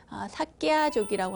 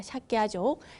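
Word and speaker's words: Śākya: 석가모니의 석가, 그러니까 석가족, 원어로는 삭갸족이라고 하죠. 발음이 어렵습니다. 삭갸족, 삭갸족의 성자라고 하는 의미입니다.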